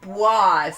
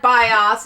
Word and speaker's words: BIOS: Listen, it's pronounced BWAS, okay? Not BIOS, not BIOS, but BWAS.